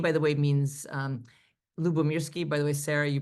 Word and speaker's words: Lyubomirsky: So let me kind of show you this is my title, and my name, by the way, means Lyubomirsky. By the way, Sarah, you pronounced it so perfectly.